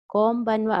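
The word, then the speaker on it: こんばんは: Konbanwa again, pronounce N as M, konbanwa, konbanwa.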